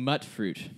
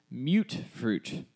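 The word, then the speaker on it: Mutfruit: way it is, but it's pronounced mute fruit, as it is mutated fruit.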